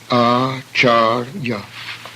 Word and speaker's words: acharya: The next word has 2 long A's and a final short A, acharya, teacher.